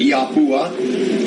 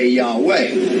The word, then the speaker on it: YHWH: Some people pronounce it Yahuwah. Some people pronounce it Yahweh, Yahweh. Y-H-V-H, tetragrammation, Yahweh.